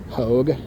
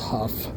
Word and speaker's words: Hough: I've always thought for the longest time even growing up as a kid I thought it was pronounced hogue. But it's actually pronounced huff.